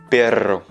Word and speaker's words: perro: Et si on dit un chien, on va dire un perro. Donc, tu peux voir que j'exagère, j'accentue un petit peu plus la prononciation du R parce que c'est un double R tout simplement.